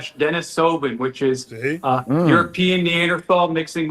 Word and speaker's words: Denisovan: Asian people are more Denisovan, whatever I can't say it right. Denisovan. Denisovan, yeah.